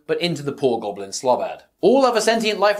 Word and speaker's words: Slobad: Heroes The Genius Goblin slob ad I've heard people say slowbard before but I don't like that pronunciation I'm saying slobad before hooking him into